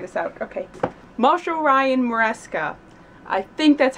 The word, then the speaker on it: Maresca: Marshall Ryan Maresca. I think that's how you said how to pronounce your name.